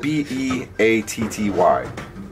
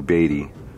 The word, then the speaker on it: Beatty: He said Beatty. It's spelled B-E-A-T-T-Y. I'm pretty sure it's Beatty.